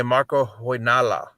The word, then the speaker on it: Marko Hoynala: today marco and tita and i always say marco hoy nala is that correct marco i think he pronounced that pretty well well done okay because